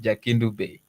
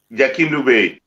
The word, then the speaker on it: Jakindube: Jack, we didn't know that should be pronounced as Jakindube. That's why we have a problem with pronouncing it. Is it Jakindube? Jakindube.